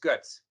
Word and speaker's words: Goetz: So it's pronounced Goetz.